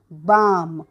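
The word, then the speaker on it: balm: letter आहे एन पुढचं बी ए एल एम बाम म्हणजे आपलं डोकं वगैरे दुखतं कधी सर्दी झाली तर त्याला म्हणतात मलम तर ठीक आहे आणि इथे सायलेंट लेटर आहे एल पुढचा अक्षर बघूयात एच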